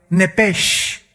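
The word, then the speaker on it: נפש: Esa palabra alma es la palabra hebrea nepesh, así como suena N-E-P-E-S-H, nepesh.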